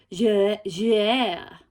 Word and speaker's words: Jouer: Oh, actually my husband tried to help teach me how to pronounce this. It's Jouer.